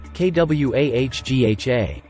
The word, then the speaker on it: quagga: to Marvel at and if you're wondering it's pronounced KW a g ha try saying that three times fast taking bronze